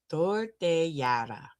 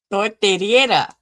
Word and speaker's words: tortillera: Tortillera.